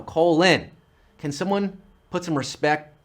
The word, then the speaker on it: Colin: Colin. That's how you pronounced his name. Colin? No, Colin.